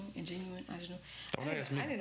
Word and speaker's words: Ingenue: That's how you say it, Ingenue.